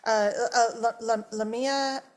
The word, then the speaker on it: Lamia: First name Lamia and last name.